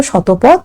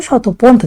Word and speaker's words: শতপন্থ: আলাদা আলাদা প্রোনাউন্সিয়েশন, তো কোথাও কোথাও শতপথ, কোথাও কোথাও শতপন্থ গ্লেসিয়ার।